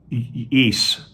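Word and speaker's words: Ys: okay here it goes her second album East I I guess that's how you would pronounce it y s was released in November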